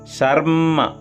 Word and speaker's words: शर्म: ज है आधा चा है तो जच्छानः शर्म, यहाँ रा के साथ माँ का उच्चारण कर लें एक बार, शर्म फिर माँ, शर्म सपराथाः।